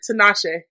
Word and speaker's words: Tinashe: Tinashe.